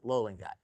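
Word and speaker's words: löllingite: Now if you're wondering I don't know if they call that umla or whatever that is or what but the pronunciation is loling guy and it is a iron arsonate.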